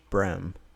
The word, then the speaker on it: bream: her back a little bream. And I thought that was really funny how she pronounced it. And down south here, they call panfish brem.